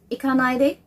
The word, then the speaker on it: Ikanaide: Ikanaide. Ikanaide. That's the proper way. I got it on the way he pronounces. So that's, there's a cut in the center, and ide on the last.